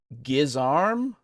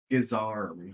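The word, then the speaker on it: guisarme: pronunciation yourself thank you gizar giz arm gizar oh yeah which makes sense because if it's a French word I can see my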